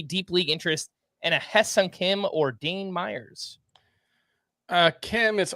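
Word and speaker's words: Hye-Seong Kim: Hye-Sung Kim. I want to kind of put an emphasis on that. It's spelled Hye, but it is pronounced like Heh. Hye-Sung Kim, 2 for 4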